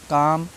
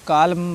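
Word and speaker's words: calm: एम देख लेते हैं सी ए एल एम काम बाम पाम ठीक है अमांडे क्या करते हैं पहले वाले को कालम बालम पाल्म ऐसे पढ़ते रहते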